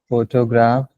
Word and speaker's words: photograph: Photograph. Photography. Photographer. Correct. The stress here is photograph.